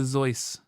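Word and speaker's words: Seuss: an audio medium um that's not how you pronounce his name oh gosh he gonna get started now no his name is SE or beavers his name is Dr zoy zoy yes he's s okay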